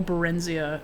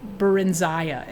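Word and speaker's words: Barenziah: We should read the real Barenzia. Baron Barenza is actually how it's said.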